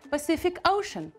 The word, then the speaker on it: Pacific Ocean: so have a look the first letter C we pronounce as Pacific the last letter C we pronounce as COO the Pacific and also we have it here in ocean we pronounce this ship ocean do you realize that we have the same letter but we pronounce in three different ways that Pacific Ocean can